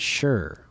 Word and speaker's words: Shaw: my last name yesterday it's pronounced as sure oh sure okay it looks like Sha but if you say it's pronounced sure then it's pronounced sure